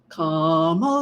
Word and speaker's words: Kamala: s slimy very racist comma it rhymes with Poma um yeah I think